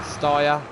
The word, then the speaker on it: Steyr: got a Case and a Steyr. That's how you pronounce it.